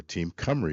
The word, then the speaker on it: Team Cymru: So, as you heard, I'm Director of Public Sector Sales for Team Cymru is actually how that's pronounced. It's a Welsh name.